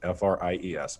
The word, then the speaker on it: Fries: minor prophet mi CAH freezes spelled like french fries FR IES Micah fries calm and